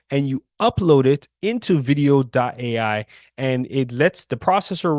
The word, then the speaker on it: Vidyo.ai: Now, the other tool that you can use is a tool called Video AI. It's spelled VIDYO.ai.